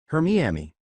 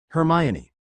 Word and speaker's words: Hermione: Hermiami, she exclaimed at that. She couldn't help but chuggle. Hermione. Her name's Hermione.